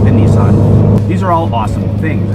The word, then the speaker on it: Nissan: and by the way in japanese that's pronounced nissan don't say your boy